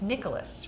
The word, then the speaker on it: Nicholos: today is the very wonderful and it's Nicholas right yes Nicholas I actually have another person that I know